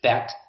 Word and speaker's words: Bet: the letter Bet, but Bet has 2 different sounds depending on if there is a dot inside, in which it's Bet. Dot inside makes it a ba, ba. You can remember it by ball.